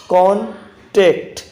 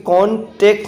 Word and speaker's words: contact: इसमें मिस्टेक जो होती है वो होती है यहाँ पर, आप एक ही जगह ई कर सकते हो, कॉन्टेक्ट, जबकि कॉन्टेक्ट नहीं, कॉन्टैक्ट क्या होता है, कॉन्टैक्ट, ठीक है, CONTACT, कॉन्टैक्ट में संपर्क।